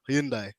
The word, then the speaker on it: Hyundai: now I know, well, you guys work with Hyundai or Hyundai as the pronunciation goes.